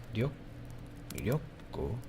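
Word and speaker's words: 力: It looks like ka, but it's not ka. That's interesting. It's Ryoku.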